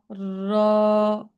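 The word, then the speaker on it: راء: র উচ্চারণ করার পালা র শব্দটা হচ্ছে মোটা শব্দ এটা হচ্ছে জিহ্বাটাকে উল্টো করে উচ্চারণ করতে হয়তো সবাই জিব্বাটা উচ্চারণ উল্টো করে উচ্চারণ করব একটা আমরা একটা আওয়াজ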